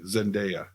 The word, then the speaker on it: Zendaya: to go on the record I would have pronounced it correctly Zendaya we'll never know now now I know I